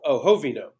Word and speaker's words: Jovino: Oh, the J is silent. No, it's H. Oh, Jovino. Okay.